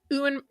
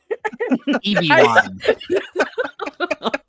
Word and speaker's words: Ewan: Ewan, God damn it, Ewan. Thank you. Visited AA meetings to prepare for his role. Why are you thanking her? She mispronounced it. EB1.